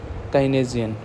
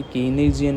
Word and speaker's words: Keynesian: पढ़ने में कैसा है इट्स प्रोनाउंस इस किनेशियन ब होता है काइनेसिन ठीक है तो अपने काइनेसिन वर्ड मतलब कनेज है गुजराती है या हिंदी है तो अपने को इंग्लिश मीडियम थ्रू नहीं है तो इट मे बी पॉसिबल कि प्रोनाउंस में थोड़ी तकलीफ हो सकती है बराबर तो आपको जानना है कि किनेशियन नहीं लिखा है काइनेसिन लिखा है बराबर आगे ऐसे दो